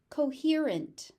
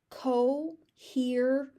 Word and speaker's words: coherent: So you got an S and a C, and they're both pronounced as S. Coherent, coherent.